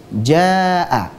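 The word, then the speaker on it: جاء: Contohnya adalah kata Jaa. Ini adalah bacaan mad wajib muttasil. Taib, yang harusnya dibaca sepanjang 4 atau 5 harokat. Itu bacaan yang benar.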